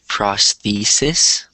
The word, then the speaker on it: prosthesis: prosthesis prosthesis so say prosthesis so the stress is in the second syllable and the reason I